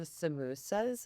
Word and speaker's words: samosa: We also have, they call them samosas in South Africa instead of samosas, which is so interesting because it's literally the same spelling. It's just a different pronunciation.